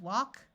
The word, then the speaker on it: walk: have words ending in Al K in all of these words the a will take on its broad sound of a so we have walk talk chalk and stalk in all these words